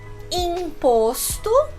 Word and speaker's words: imposto: Com o in, ele vai aparecer como im ou in. Por exemplo, imposto, imposto e indígena, in. Vocês já devem ter percebido que para fazer esse em e esse in, eu sorri para fazer esse som.